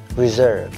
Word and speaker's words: reserve: Trọng âm rơi vào âm số 2, reserve.